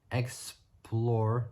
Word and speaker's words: Xplor: Suspension changed with the addition of the new Explore, which is spelled XPLOR, as they call it, of a new Explore